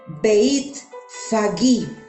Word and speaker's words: Betfagé: Está en lenguaje arameo y se pronuncia Beit Fagí.